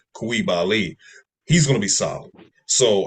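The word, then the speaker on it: Coulibaly: we have uh Bala kabali I think his name is actually pronounced B kibali he's gonna be solid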